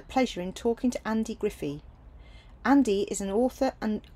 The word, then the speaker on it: Griffee: very much well um yes my name's Andy Griffey gri double F double e I always have to spell it out because it's quite unusual um and